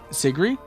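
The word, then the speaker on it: Sigrid: Sigree. Yeah, that's how Sigret is uh pronounced. It's pronounced without the D.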